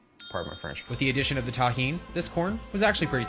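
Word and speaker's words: Tajín: knows the deliciousness of Tajin that's how you pronounce this it's delicious with the addition of the tahin this corn was actually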